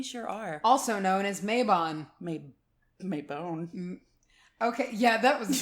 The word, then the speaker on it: Mabon: And at one point she was like, gave me all the pronunciations. And I just decided on the spot, it will never be anything but Mabon.